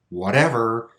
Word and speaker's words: whatever: always exceptions for example the word whatever whatever the stress is actually on the syllable with T but we still make that flap sound I don't really know